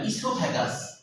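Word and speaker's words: esophagus: ইসোফ্যাগাস। ইসোফ্যাগাস। ও উচ্চারণ হয় না।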